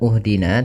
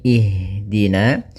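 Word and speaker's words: اهْدِنَا: Maka kita baca di sini bukan uhdina tapi ihdina.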